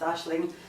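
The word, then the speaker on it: Aisling: mostly it's called a spelled a i s l i n g but pronounced Ashling and it's mostly a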